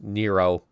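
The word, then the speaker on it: Nrvnqsr: this name is actually that name is actually pronounced nero i don't know why it's nero but it is yeah nero indeed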